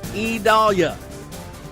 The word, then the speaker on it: Idalia: It's IDALIA. IDALIA. My neighbor's name is spelled the same way, but pronounced totally differently.